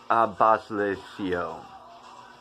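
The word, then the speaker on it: À bas le ciel: It's à-bas-le-ciel. À-bas-le-ciel, I think. I could be wrong.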